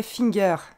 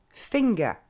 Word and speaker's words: finger: une fois photographe 1 un doigt ne se dit pas finger mais fanga encore une fois fait nga